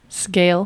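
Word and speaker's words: Sgaeyl: Scale.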